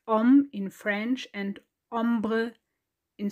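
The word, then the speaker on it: homme: start comparing words in both languages you don't pronounce the age so it's om in french and ombre in spanish well and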